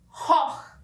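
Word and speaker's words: Choch: Outro exemplo é a palavra Koch, que vai ser escrita com CH e eles vão falar hoch.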